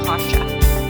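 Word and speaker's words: Kasa: Kasha. It's K-A-S-A, but we pronounce it Kasha.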